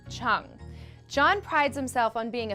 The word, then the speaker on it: Chiang: it's all about John Chung and yes it's pronounced Cheung John prides himself on being a fiscally responsible